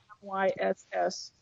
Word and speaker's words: Myss: Her last name is spelled Myss.